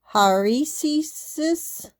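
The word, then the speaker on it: αἵρεσις: And it's pronounced haresis, and definition is choice, opinion, a religious or philosophical sect, discord, or contention.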